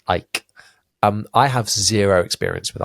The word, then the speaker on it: Eich: EICH, pronounced Ike.